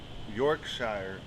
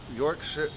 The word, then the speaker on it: Yorkshire: hmm nice so yeah Yorkshire Yorkshire brick house you can say Shire good I think that's actually probably the correct pronunciation right you're I don't